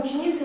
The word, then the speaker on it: ученица: Слово ученица в вашем распоряжении. Ученица. Ученица. На какую букву падает ударение? И. Ударный звук и.